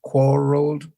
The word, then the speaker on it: quarreled: Quarreled is also accented on the first syllable, and then agreed on the last.